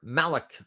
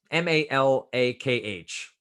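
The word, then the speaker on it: מלאך: is the equivalent of the Hebrew word Malek Mountain mal akh sorry for the mispronunciation mal akh meaning this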